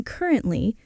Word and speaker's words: currently: Three syllables, stress on the first. Currently. Currently. I'm currently working as a podcast host.